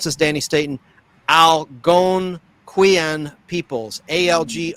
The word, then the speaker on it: Algonquian: on the Wendigo legend of the, I can't pronounce this, Danny Staten, Algonquian peoples. Algon. Algonquin.